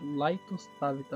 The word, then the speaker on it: LightosTavita: Se pronuncia Laitostavita meu nome, tá?